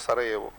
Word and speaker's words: Sarajevo: Written as Sarajevo, pronounced as Sarajevo.